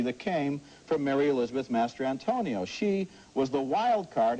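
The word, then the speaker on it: Mastrantonio: the oscar this year you will find out how to pronounce her name it's mary elizabeth master antonio okay that's not why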